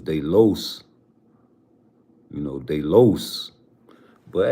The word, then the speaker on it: los: I mention Edwin de los Santos I always say Los not LA because La is feminine and I know I've